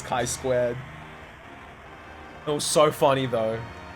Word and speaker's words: chi-squared: Because, I should, and I'm like, "Oh, by the way, it's chi-squared." It's like, "Oh, sorry, sir." I'm like, "Oh, no, it's fine." I go, "How the fuck are you meant to know how a Greek letter's pronounced?"